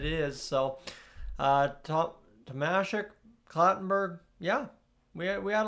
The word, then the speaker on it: Tomasek: I've been saying Thomas Shek for however long, but it is Tamasic, which makes, like I said, perfect sense given, you know, the situation that it is. So, uh, to Tamasic, Clattenberg, yeah, we we had a lot of